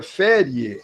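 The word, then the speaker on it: feriae: E aí, voltando para o antigo latim, A palavra ferie, como se escreve AE, tudo junto, se pronuncia ferie, é feriado ou descanso.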